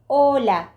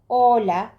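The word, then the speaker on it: hola: Açe diyoruz ve H harfi İspanyolcada nerede görürsek görelim, nerede gördüğümüzün bir önemi yok. Okunmaz arkadaşlar. Mesela burada ola ola gibi arkadaşlar bu sesi ne yapmıyoruz? Okumuyoruz.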